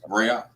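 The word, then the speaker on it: ראה: So the aleph represents a glottal stop, and then the ha is vocalized, right? So you got the ra'ah. So that's how it should be pronounced.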